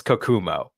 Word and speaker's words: Kokumo: Kokomo, Kokamo, or Kokamo? Okay, I will say spelling would be a crapshoot. Your pronunciation, I do know it's Kokumo.